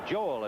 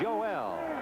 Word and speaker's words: Joel: The name is Joel, but he doesn't pronounce it Joel, as you might imagine. It's Joel.